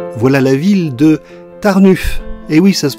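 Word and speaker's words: Tarnów: voilà la ville de tarnuff et oui ça se prononce ainsi le haut presque comme un U et le W presque comme un f enfin si les Polonais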